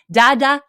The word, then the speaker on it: Dada: say this because I've learned some swah but daada yes exactly okay thank you say when I